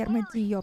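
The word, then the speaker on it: Armadillo: Еще по-испански Армадилlo, потому что там двойная L, которая читается как И. Она не произносится вообще в словах.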